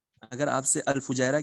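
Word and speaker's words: الفجيرة: में पूछ लिया जाए, मुझे लगता है फजीरा बोलते हैं या फुजैरा बोलते हैं, जो भी है करेक्ट प्रोनाउंसिएशन अल शायद फुजैरा भाई, फुजैरा फुजैरा ही फुजैरा।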